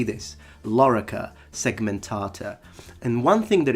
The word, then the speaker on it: lorica: a word this specific word in latin is lo rica so both the or and the e are